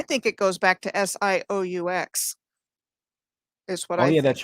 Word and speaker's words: Sault: going to focus on this is called the sioux which is how he got an interview named sue so johnny cash but it's it's spelled the french way it's s-a-u-l-t in both michigan and in ontario do you think that's